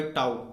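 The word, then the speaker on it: tau: torque वैसे इस symbol को मैं टाउ बोलता हूँ क्योंकि ये टाउ ही प्रोनाउंसिएशन इस सिंबल का होता है, बाकी मैं टॉर्क कह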